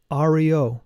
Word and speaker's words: Ario: This mantra must be chanted every morning, dividing it into 3 syllables. A, Ri, O, prolonging the sound of each letter.